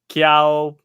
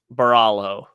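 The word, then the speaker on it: Borralho: Paul Craig versus uh kiao that's not how it's pronounced baralo all right Balo is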